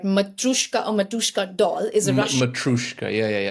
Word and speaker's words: Matryoshka: model and this type of embedding known as Matryoshka embedding model. Are you aware of it? No. It's been, since I've heard about it, I have been stuck on it. So a Matryoshka doll, I'm not even sure if I'm pronouncing it right.